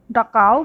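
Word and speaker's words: Dachau: German ভাষায় এই শব্দটা উচ্চারণ করে ডাকাও বলে। টিকিট নিয়ে দীপাঞ্জনের কাছে ফিরে এলো রাইক।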